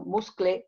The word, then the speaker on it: muscle: You say muscle, no muscle or muscle. You say muscle. The same as castle. The same pronunciation.